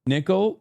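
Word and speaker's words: Nickal: Nickol is how his name is pronounced?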